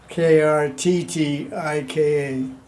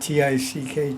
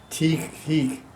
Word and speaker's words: Karttika: It's spelled with 2 T's, by the way. Karttika. Not T-I-C-K, tick. Teak. Karttika. Kartik.